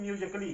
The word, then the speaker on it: musically: तो LLY से पहले ए आ गया तो यहाँ पे ये क्या है? साइलेंट हो गया है।